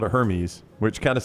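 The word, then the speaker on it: Hermès: for a gum holder uh did you say herpes gum Hermes man give me some of Hermes uh balisa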